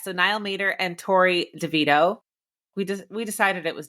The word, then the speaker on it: DeVito: tomato um yes so NY Mater and Tori Devito we we decided it was DeVito right not